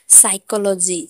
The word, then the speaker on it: psychology: जैसे साइकोलॉजी, साइकोलॉजी, PSYCHOLOGY, साइकोलॉजी। यहाँ पर एस से पहले पी आया है तो पी साइलेंट है।